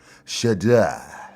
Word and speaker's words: Shedeur: You probably gotta say it like you're a Frenchman. Shedeur.